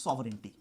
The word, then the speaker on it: sovereignty: So let us see what is sovereign or what is sovereignty. Now do see the spellings, English medium students. SOVEREIGNTY, but it is not pronounced as sovereignty.